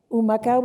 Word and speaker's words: Humacao: Humacao, which is near the rainforest. Humacao begins with an H, which is silent in Spanish.